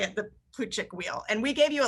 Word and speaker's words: Plutchik: 99 sure that's how you say it the plutchik wheel and we gave you a link to